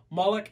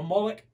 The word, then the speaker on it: Moloch: And there's different ways to pronounce that name. Moloch, a Moloch, and spell it.